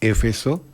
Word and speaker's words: Éfeso: Una de las 7 maravillas del mundo antiguo, el templo de Diana en Éfeso, así se pronuncia, Éfeso, fue incendiado y destruido por completo.